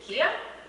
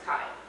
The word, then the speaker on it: Kai: Is it Kia? No, I'm sorry. It's Kai.